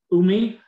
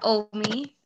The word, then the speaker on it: Omi: And is that Umi? Have I pronounced your name correctly? Hello, yeah, that's Omi.